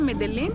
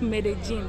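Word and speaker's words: Medellín: It's Villa Medellin. Uh-huh. But it's pronounced Medellin. Medellin. Yeah, that's how the Colombians corrected us.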